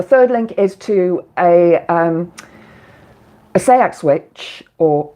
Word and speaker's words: Seax: Oh, yeah, the third link is to a seax witch, or it's actually pronounced sex witch, called Raymond Buckland.